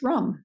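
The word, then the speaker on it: Ram: below your rib cage and this one is pronounced rum chanting this can help you achieve that transformation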